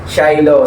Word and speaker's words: Shiloh: by shilo Ayan so Mali pala ako kanina shilo yung sabi ko so ang tamang pronounciation niya ay food cravings by shilo So yun nga katulad